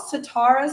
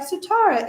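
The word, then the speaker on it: Sitara: for me now it is spelled s i t a r a which is the original spelling of like if you have sitar the instrument but that is always how I taught people to say my name especially for all my East Indian East Asian friends my Pakistani friends that's always the reference they would make they'd be like oh satar or like satara it means star my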